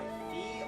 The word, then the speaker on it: Fi: the person this person will either be pronounced by Fe or fi I will be going with Fi five is